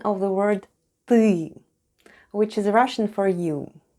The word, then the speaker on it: ТЫ: Let's have a look at the spelling of the word ТЫ /têê/, which... is Russian for "you": first we have Т /t/... and then goes Ы /êê/; and all together it's... ТЫ /têê/.